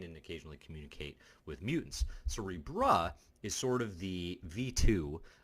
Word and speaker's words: Cerebro: And this is something that has been, and no, I'm not mispronouncing that, Cerebro is the predecessor, okay?